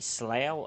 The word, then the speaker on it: Slough: The new starter city, Slough, apparently, rhymes with cow.